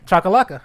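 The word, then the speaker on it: Chacalaca: Chakalaka. There you go. Yeah, I got it? Chakalaka.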